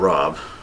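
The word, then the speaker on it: Rab: Yeah, all the way over here is the town of Rob. Here it's just spelled R-A-B, but there it is.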